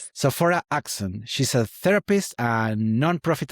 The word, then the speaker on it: Sophora Acheson: Today we are joined by Sopha Axon. Yes, you got it. I pronounce it correctly right. Yes. Sora Axon.